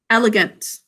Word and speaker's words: elegant: e syllable break elegant our second syllable is unstressed thinking cap over that elegant we're also going